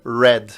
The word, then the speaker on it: read: verbo ler no passado ele se escreve da mesma maneira mas ele se pronuncia Red Igual essa cor aqui né vermelho só